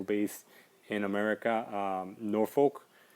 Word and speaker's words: Norfolk: in in America um Norfolk or noric depending on how you want to pronounce it but it's spelled like nor folk um so I am